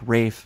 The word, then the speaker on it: Ralph: earlier than that where the L is silent and it also indicates that the preceding vowel becomes longer thus Rafe spelled Ralph